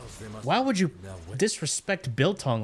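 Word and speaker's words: biltong: Like Ro said Billong. Not Billong. Bill Tong. You got him. Bilton, you trying out is good if you order it.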